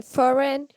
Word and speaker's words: foreign: is signature signature why because we pronounce the g letter and in foreign we then pronounce the g later yes can you tell